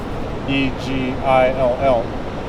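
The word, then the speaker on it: Egill: So like the man's name Egil, E-G-I-L-L, Egil. But then the possessive form is Egils because there's not 2 L's.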